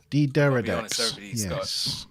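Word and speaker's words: D'deridex: D-Deridex. Everybody's got a chance. That helps. D-Deridex, yeah. That's how it's pronounced. Andrew has helped us out with the phonetic spelling.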